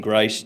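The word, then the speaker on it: Greiss: Um, pronounce it correctly because I may have butchered it butchered it. And who you represent and your position on the bill. Appreciate it. Grace, G R E I SS.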